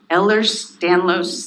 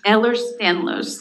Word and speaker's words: Ehlers-Danlos: And can you say it slow so I can try to spell it? Absolutely. We'll take the advantage of expanding awareness to the Ehlers-Danlos syndromes.